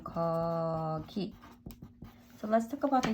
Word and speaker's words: 거기: 여기 pronunciation 여기 and there which is 거기 and pronunciation 거기.